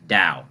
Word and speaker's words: Tao: yeah it's it's it's it's pronounced like with a D sound da yeah you got it